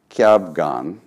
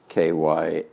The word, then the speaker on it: Kyabgon: It's by Trela Kyabgon. I think that's how he pronounces his name. Kyabgon.